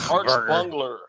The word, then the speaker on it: Achberger: Arch Bungler is how it's pronounced.